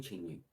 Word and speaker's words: Schengen: é a questão do espaço changing ou espaço changing changing como se quiser pronunciar aí que tem esse nome